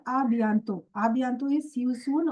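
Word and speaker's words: à bientôt: Here the last t is silent. It is called abanto.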